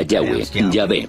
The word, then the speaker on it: Yah: íntimo yal que normalmente se pronuncia yah pasajes con el nombre de yah que en alemán se escribe con una J se conocen por los